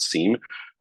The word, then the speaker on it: SIEM: It's called a SIM, and some of you, I know you probably like to call it SIEM. We welcome either pronunciation. We'll understand what you're saying.